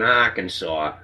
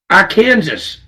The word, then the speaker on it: Arkansas: Evidently, you don't see a lot of people from Massachusetts down in Arkansas.